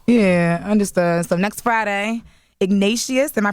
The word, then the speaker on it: Ignatius: So next Friday, Ignatius, am I pronouncing that right? Yeah, Ignatius.